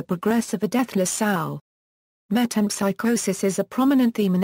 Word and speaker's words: metempsychosis: in joyy and fashion the word famously appears mispronounced by Molly Bloom as met in Pike hoses in Thomas pin's 1963 Premier novel V metam psychosis is mentioned in reference